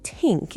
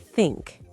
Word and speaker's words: think: Well, the TH sound, for one. In my language, we don't have that sound at all.